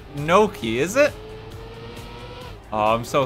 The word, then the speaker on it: gnocchi: never see it again ganache gang like is that a real type of pasta i don't know the bow ties genachi is real it's so good it's pronounced gnocchi is it oh i'm